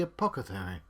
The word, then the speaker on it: apothecary: Kaine turns around to see the apothecary crouching on the floor. Apothecary. That's how you pronounce that word, John.